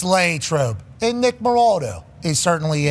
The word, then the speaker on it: Latrobe: Latrobe.